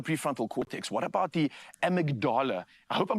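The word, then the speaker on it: amygdala: What about the amagdala? I hope I'm pronouncing that correctly.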